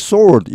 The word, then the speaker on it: soar: 일본의 니케이 225 지수가 has soared, 여기 soar는 쑥 올라가는 말입니다. 앞에 이 sour하고는 발음이 다릅니다. 여기 sour는 이 SOUR입니다. 여기는 SOAR이죠.